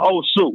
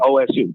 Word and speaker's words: Osu: So it's an area called Osu, and it's spelled like Ohio State, OSU.